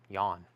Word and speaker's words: Jan: how would you know that's supposed to be pronounced yawn no one would know that foghat stone blue